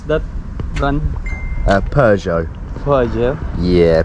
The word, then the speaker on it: Peugeot: all right how do I pronounce that run uh Peugeot yeah Peugeot that's the one just have to fill in